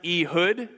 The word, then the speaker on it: Ehud: the Lord raised up for them a deliverer a hood the son of Gera the Benjamin Knight a left-handed man everybody say II hood it's actually pronounced a hood but that sounds like an online ghetto so